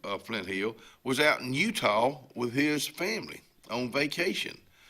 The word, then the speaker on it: Utah: Because there ain't no W in it. Utah.